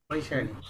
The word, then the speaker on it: Vaishali: How do you pronounce that, doctor? Vaishali.